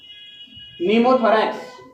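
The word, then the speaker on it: pneumothorax: Second लिखो नीमोथोरैक्स, नीमोथोरैक्स, इसमें P silent रहता है, नीमोथोरैक्स।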